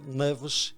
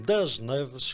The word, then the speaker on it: Neves: Filho de Amadeu de Ascensão Neves e Adelaide Alves Pascoal, Fernando Pascoal Neves, e não das Neves, como muitos teimam em pronunciar, teve e tem a alcunha de Pavão.